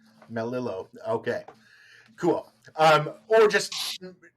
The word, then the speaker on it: Melillo: right now um so the proper pronunciation of my last name is melillo melillo okay cool um or